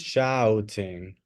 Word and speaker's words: shouting: So be careful with the pronunciation of this word. This is shouting. Because shooting es disparar con una pistola. Okay? Shouting es gritar. So screaming and shouting is a complete waste of time.